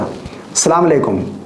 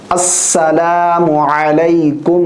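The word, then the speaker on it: السلام عليكم: अस्सलाम अलकुम व रहमतुल्लाह। अस्सलाम अलकुम व रहमतुल्लाह। ठीक है ना? अस्सलाम वालेकुम। सलाम वालेकुम। ये गलत है। सलाम वालेकुम नहीं है। अस्सलाम अलकुम। व रहमतुल्लाह।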